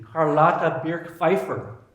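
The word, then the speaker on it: Charlotte Birch-Pfeiffer: Another was, I'm going to say this with German pronunciation, Carlotta Birk-Pfeiffer.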